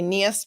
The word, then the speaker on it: Niehus: And I say Niehus because she will correct the pronunciation of her last name several times during the course of this testimony.